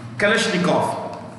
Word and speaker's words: Kalashnikov: यहाँ पे लिखा मैंने, Kalashnikov, Russian or Eastern European languages में, Slavic भाषाओं में, if a word ends in with OV, it's pronounced with an F.